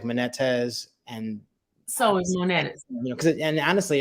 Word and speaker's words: Manettas: So I understand if some of the vowels get changed and stuff, but I say it Manettas. Manettas.